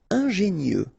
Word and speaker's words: ingénieux: Ingénieux, final X not pronounced, so I-E-U, I-E, nieux, ingénieux, ingénieux.